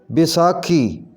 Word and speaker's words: بیساکھی: کنی، پنساری، صحیح ادائیگی ہوگی پنساری، پنساری، پنساری۔ بیساکھی، اس کا صحیح تلفظ ہوگا بیساکھی، بیساکھی۔ بلند، بلندی، صحیح پڑھیں